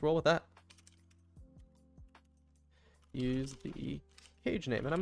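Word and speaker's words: CAJE: How would you pronounce that? Cage? Cage? I'm gonna pronounce it Cage.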